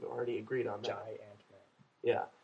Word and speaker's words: Giant-Man: Giant-Man. Yeah. You have to separate the syllables. Giant Man. J-Y and then Ant-Man.